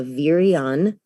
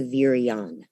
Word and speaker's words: virion: A virion is, so I'll spell it because I'm watching the transcription on the bottom.